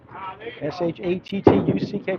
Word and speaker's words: Shattuck: Shattuck, S-H-A-T-T-U-C-K, pronounced Shattuck.